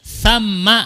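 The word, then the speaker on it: ثَمَّ: Huna artinya di sini, thamma artinya di sana. Ini bacanya bukan thumma tapi thamma. Wa min thamma, dan di sana biasanya begitu ya.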